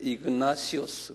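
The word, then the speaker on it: Ignatius: 이그나티오스인데 이그나시오스 그래요. 한 발음해 보실래요?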